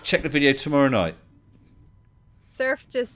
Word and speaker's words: Surf: Surf just said, Team and Radical keep picking on him because the bots won't say it right. All right. Because what the bots keep saying is SYRPH instead of surf.